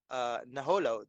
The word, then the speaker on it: Naholo: Was rhymes with Nadolo? Naholo, did he win the World Cup in 2015?